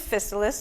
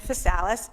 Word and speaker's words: Physalis: And there are 3 different pronunciations of Physalis. There's Physalis, Physalis, and Physalis. You pick the one you like. We say Physalis.